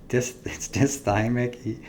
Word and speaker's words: dysthymic: Did I say that right? It's dysthymic, and then it's euthymic and euphoric. I said it wrong first time.